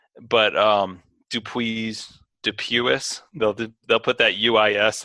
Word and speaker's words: Dupuis: similarly difficult to spell worst mispronunciation ever anyone has ever said um I think dupus that's that's consistently shown up but um dup Dupuis they'll they'll put that